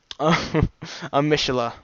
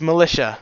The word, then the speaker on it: militia: The town raised a Mishila. It's Matilla, right? No, it's militia, because of how it's spelled.